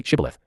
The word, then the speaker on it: Shibboleth: If he said, No, then they said to him, Now say, Shibboleth, and he said, Sibboleth, for he couldn't manage to pronounce it correctly.